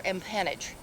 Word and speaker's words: empennage: Now we're at the tail, or they call it the empennage, the French pronunciation, or empennage.